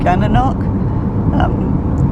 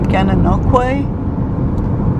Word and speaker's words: Gananoque: and Lisa told him Gananoque, and so he corrected us, and it's apparently Gananoque.